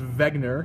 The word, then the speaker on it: Wegener: evidence next thing that Vagner notices by the way his name starts with a w but it's pronounced Vagner because he's German uh is next thing